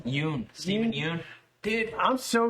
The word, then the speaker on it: Yeun: Yeun.